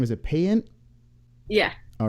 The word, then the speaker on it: Payant: Is it PAYANT? Yeah. All right. Oh, we got it right on the first shot. Sarah PAYANT.